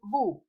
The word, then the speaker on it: vous: The combination of letters O and U is pronounced as OU, like in nous and vous, we and you. S is never pronounced at the end, and it denotes plural.